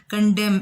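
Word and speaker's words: condemn: इसमें के साइलेंट है, कंडेम इसमें एन साइलेंट है, फेच इसमें टी साइलेंट है, बिस्किट इसमें यू साइलेंट है, रिंकल्ड इसमें डब्ल्यू साइलेंट है, स्विच इसमें टी साइलेंट है।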